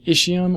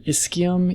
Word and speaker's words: ischium: You have the ischium or ischium, either pronunciation is fine. Ischium is what anatomy textbooks say, ischium is what everybody says, and the pubis.